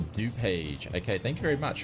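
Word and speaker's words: DuPage: Peter Brett says morning everybody do page is pronounced d page okay thank you very much appreciate that thanks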